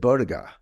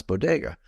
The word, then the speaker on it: bodega: couple years ago and she said Boda and I was like what the heck's Boda but I realized that she couldn't pronounce Bodega which is you know Spanish that's how you say it uh but I